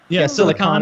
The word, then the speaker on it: silicon: there's e on one and on the other silicon and silicone s uh uh well yeah through my whole